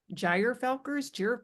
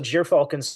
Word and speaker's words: gyrfalcon: I've heard that pronounced so many different ways, and I don't even know if I pronounce it correctly, but I always say gyrfalcon.